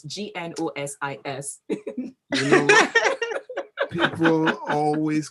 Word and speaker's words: Gnosis: Now, Gnosis is one of those words that you have to start with a G and yet the G is silent. So it's Gnosis. You know what? People always call it Gnosis.